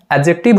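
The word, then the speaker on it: adjective: दी आया हुआ है यहां पर दी साइलेंट होता है दी का प्रनंसीएशन नहीं लिया जाता है तो हम इसको क्या पढ़ते हैं एडजेक्टिव पढ़ते हैं ना की एडजेक्टिव पढ़ते हैं क्या पढ़ेंगे आप लोग पढ़ेंगे दी को साइलेंट रखना होगा यहां पर ठीक है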